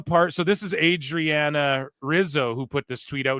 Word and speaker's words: Rizzo: Lorenzo and um Adriana Hizo or Rizzo rather I say Hizo because Brazilian ju you know we say